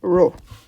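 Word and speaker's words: rho: before which is says which we pronounce as row. It's a it's a Greek letter.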